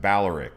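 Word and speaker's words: Balearic: got the coolest beach in all of the baleric islands so you could see isla illest balors but we pronounce it baleric okay uh the english speakers now the tithirian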